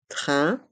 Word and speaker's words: train: Eurostar le train Eurostar le mot train les voyelles a i n font le son un train et les voyelles e